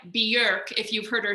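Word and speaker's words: Björk: getting botched like how bjork is like kind of like bjerk if you've heard her say it like in icelandic like that's like the icelandic pronunciation of it or like with me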